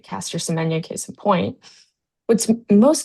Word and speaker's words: Semenya: Sinen, I can't pronounce her last name. It's Semenya.